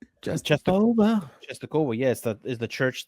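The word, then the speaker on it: Częstochowa: Rakau Czestochowa is because the church Czestochowa, the church that my family goes to in Ecuador, is called Czestochowa. Czestochowa. Yeah, it's named after the Polish.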